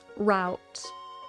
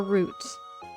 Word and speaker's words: route: Wally, that reminds me uh words like um route or root. You pronounce it route or root. Like whenever I said paper route or paper route, I'd always go paper route, but then Americans would tell me it's a paper route.